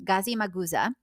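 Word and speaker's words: Gazimağusa: Gazi Maguza is how it's said, I believe, in Turkish.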